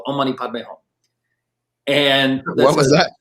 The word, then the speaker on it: Om Mani Padme Hum: very popular one's called Om Mani Padme Hum. And What was that? Say that again. Exactly. 6 syllables. Om Mani Padme Hum.